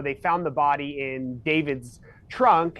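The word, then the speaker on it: D4vd: spells his name D4 VD but it is pronounced David.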